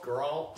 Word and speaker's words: Geralt: you pronounce his first name? Geralt.